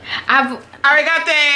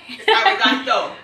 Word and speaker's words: arigato: Arigate. Oh, yeah. Arigate. Arigato.